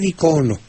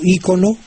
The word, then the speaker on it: icono: Ahora, en cuanto a icono o ícono, prefiera usted icono con el acento en la segunda sílaba. Pero está también aceptado ícono, pero efectivamente el diccionario de dudas, aunque le da libertad de usar uno u otro, dice que lo prefiera usted con el acento en la primera O.